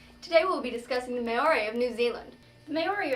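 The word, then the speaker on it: Māori: And it's actually pronounced Maori.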